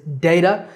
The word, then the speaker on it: data: the correct pronunciation, because there are 3 ways that people say this word. data, which is the way that I said it, data, and even data. But the most common pronunciation is data, and that's how I